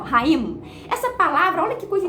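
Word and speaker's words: חיים: A palavra vida no hebraico, ela pronuncia raím, né? Você fecha a boca no final, raím.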